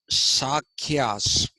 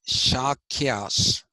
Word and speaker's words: Shakyas: In fact, uh, the Buddhist writings say Kosala's actual name was Sakyas. See, you got to learn how to pronounce this. It is not Sa, it is not Sha, it is Sha. Okay, Shakyas. Okay, and the Shakyas, according